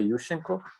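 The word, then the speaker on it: Yushchenko: was overthrown by you let me pronounce the ukrainian way yushenko and um that he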